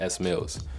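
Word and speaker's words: Smielz: you guys don't know my name is pronounced s Mills so with this I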